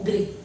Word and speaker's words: गृह: इसमें बच्चों ग्रह, र का उच्चारण हो रहा है और इसमें री की मात्रा का उच्चारण हो रहा है ना। तो र और री, यहाँ अ की मात्रा सुनाई दे रही, यहाँ ई की मात्रा सुनाई दे रही।